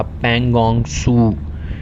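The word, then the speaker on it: Pangong Tso: भी चल रहा था, पैंगोंग सू, TSO को प्रोनाउंस किया जाता है सू।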